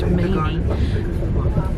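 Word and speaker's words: Manea: Just had a very quick announcement that the platforms at the station I now know is pronounced Mainy are very short, and so I've had to move back down the train 2 coaches, or else I would be stuck.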